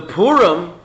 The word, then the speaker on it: Pur: Anyway, so the Purim, the lottery, how do you say lottery in Persian by the way?